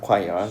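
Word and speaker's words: choir: 콰이얼 조심하세요. 초 자이랍니다. 이런 거 발음 조심해야 되는 이유가 뭐냐면은 우리 리스닝도 이제 결국 수능 볼 때 보니까는 어 려서 그러면 내가 하나 더 물어볼게.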